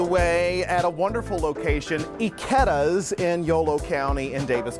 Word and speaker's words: Ikedas: My last name is pronounced Ikedas. Ikedas, not Ikedas, but Ikedas.